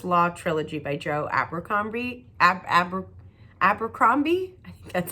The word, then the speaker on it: Abercrombie: is the first law Trilogy by Joe Abercrombie Abercrombie that's how you say his name this is